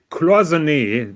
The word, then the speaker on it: Cloisonné: So that is the drawing of my Cloisonné, that is a proper pronunciation, dear Pontiff, of my Cloisonné dial.